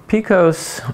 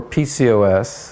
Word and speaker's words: PCOS: Picos or PCOS and it's pronounced both ways is a common female